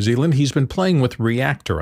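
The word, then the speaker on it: Reaktor: He's been playing with Reactor, I believe that's how you pronounce it, R-E-A-K-T-O-R, from Native Instruments.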